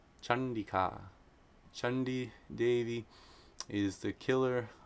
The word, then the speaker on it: Caṇḍikā: So if anuswara precedes a cerebral sound, it's pronounced like the cerebral nasal na. There's a couple nice examples here. Number 755, Chandika, Chandika, Chandika.